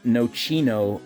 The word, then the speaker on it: nocino: out of these called so i pronounced it wrong when i was making this video this is called nochino or no cello carry on which is